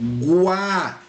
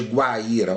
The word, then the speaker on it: Guaíra: Quando eu pronuncio Guaíra, ou quando eu pronuncio Guaraná, o que acontece aqui? Olha só, Guá, né, de Guaraná ou de Guaíra, olha lá, Guá. Esse U, eu pronuncio o som do U.